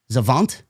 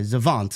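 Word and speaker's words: Xavant: X A V A N T Zant I believe I I I that's how I would pronounce it. Yeah. Okay. Zavant for the WWC Universal.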